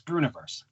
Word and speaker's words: Breuniverse: a lot of people have a hard time pronouncing it it's yeah it's brunoiverse oh they have a hard time with that